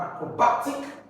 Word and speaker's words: acrobatic: word or second from the end of the very first syllable of that word. So here you're going to have acrobatic, first one, no. Then you have second, that is third from the end, no. Batic, this is the word.